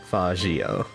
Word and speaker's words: Faggio: Not calling it with a hard G. I'm gonna say it's Faggio.